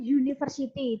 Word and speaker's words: university: Tetapi kalau ada kata tulisannya university, bacanya kan university, dia tulisannya u tapi bunyinya kayak y.